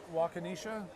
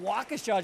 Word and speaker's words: Waukesha: Wakanisha? I don't know, I've heard so many variations You of were how to good pronounce with Waukesha, which no, was- I know